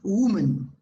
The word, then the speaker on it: woman: I want to say, the pronunciation of this is woman, Woman. woman, right? Como si fueras a decir hueso, woman.